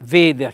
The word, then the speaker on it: veder: Beh, poi c'è a veder, eh, veder, chiaramente l'accento è sulla e, è un accento fonico chiuso.